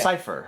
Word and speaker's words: Seifer: So, I always pronounce it as Cypher.